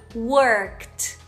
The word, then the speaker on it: worked: vai pronunciar como worked não pronunciem o e tá gente então é worked worked já o verbo Cook